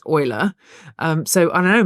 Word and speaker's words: Euler: There's a There's um Euler was how I thought his name was pronounced, but apparently it's Euler.